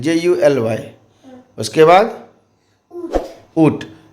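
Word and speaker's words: Août: उसके बाद ऊट, AOUT, ऊट फ्रेंच में उच्चारण है, इंग्लिश में अगस्त बोलते हैं, AUGUST।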